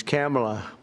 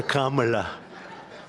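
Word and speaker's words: Kamla: I said, is this the same pronunciation? No, sir, it's a little different. It's Cam, right? Cam, as opposed to Calm.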